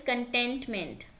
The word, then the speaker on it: contentment: The correct pronunciation is contentment.